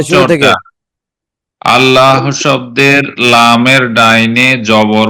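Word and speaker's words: الله: জি, জবর অথবা পেশ হইলে লামের ডাইনে জবর অথবা পেশ হইলে তাইলে পুর করিয়া পড়িতে হবে, আল্লাহু এরকম পড়িতে হবে।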